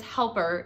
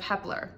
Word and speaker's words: Hepler: And to top it all off, the announcer pronounced my name as Helper instead of Hepler.